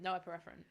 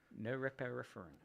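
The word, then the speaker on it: norepinephrine: How do you say it? No epinephrine. No epinephrine. No repar. No, no epinephrine. No epipherren.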